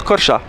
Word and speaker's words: Korçë: Et le E avec 2 points ça se prononce A. Donc ça fait Korça.